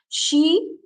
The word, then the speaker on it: she: will read it as C cells C cells by the Sea sore no when it is sh we will pronounce it as sure sure she yes she after that sh is